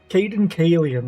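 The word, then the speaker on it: Cayden Cailean: Caden Kalian, that's it.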